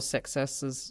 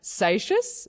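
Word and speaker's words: Seixas: I'm hearing it in very There's very, very different pronunciations getting about. "Sacious" is it is one that I I hear a lot. Um it's like you want to say "success". That's That's his name.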